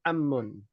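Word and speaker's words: عمّ: Am itu artinya Paman Jangan sampai salah baca ya ahah antara Um dengan am ummun dengan ammun ya dan amun di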